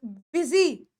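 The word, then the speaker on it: busy: इसमें सोच रहे होंगे कि मैम यूएस वाई है आई की साउंड तो आ नहीं रही तो बेटा यहां पर बी को हम बी की तरह प्रोनाउंस कर रहे हैं इसीलिए ये वर्ड क्या हुआ ये वर्ड हुआ बिजी और याद रखना मैं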